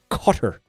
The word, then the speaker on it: Qatar: Uh we're not supposed to pronounce it Qatar anymore. We're supposed to pronounce it cutter. Um for like a cigar cutter.